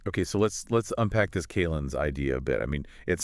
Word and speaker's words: calends: It's almost described as a calends, that's C-A-L-E-N-D-S, pronounced like calendar without the R and with the Z sound at the end, sort of like a foundational day before the first Sunday.